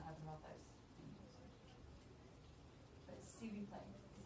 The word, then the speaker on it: s'il vous plaît: See, who, play. See who, play. Literally, this S is C mixed with eel.